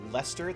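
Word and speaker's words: Leicester: called the lester alliance the lester that's how you pronounce that goodness once consumed by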